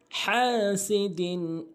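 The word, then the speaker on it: حَاسِدٍ: আর হাটা যে red mark দেওয়ার কারণ হচ্ছে অনেকে ছোট হা উচ্চারণ করেন, হা উচ্চারণ করতে হবে। হাসিদিন ইযা হাসাদ হাসাদ, পুরা ছোটটা একবার বলছি, একটু মনোযোগ সহকারে খেয়াল করবেন।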